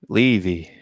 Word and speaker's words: Levy: But apparently it's pronounced Levy.